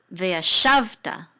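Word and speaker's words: וְיָשַׁבְתָּ: Sorry, but the trope mark is under the shav right here, right? So this is veyashavta. Okay, that's how you say this word with the accent in this syllable, veyashavta, and this means and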